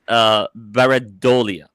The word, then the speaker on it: pareidolia: So the term is pareidolia. Have you ever heard this term before? Nope. Pareidolia. Okay, so it's spelled.